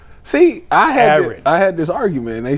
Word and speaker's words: Aaron: Because people in Northeast Ohio pronounce Aaron and Erin exactly the same.